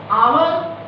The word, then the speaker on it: hour: If we see, hour is a word with pronunciation hour, but its spelling is H-O-U-R, where H is silent.